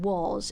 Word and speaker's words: was: and then ask yourself how you describe the letter O in once phonetically because it's pronounced as a W and the letter A in was is pronounced as an O kind of sound.